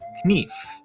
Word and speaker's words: knife: of this change is in the word knife in middle english it was pronounced kneef but after the vowel shift the k became silent so can eve